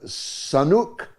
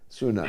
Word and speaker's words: Sunak: David is in England, in Swindon, on Sanuk and Israel. Sunak. Yeah. I got the name wrong then.